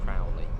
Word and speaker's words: Crawley: the difference field and the other one's Crawley pronounce it it's Crowley of the area I went up okay